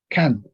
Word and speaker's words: can: Generalmente en inglés, cuando está con U, la pronunciación es como si fuera una A con acento. Can. Can.